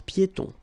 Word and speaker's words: piétons: Final S here not pronounced, and then final not pronounced. Un passage pour piétons.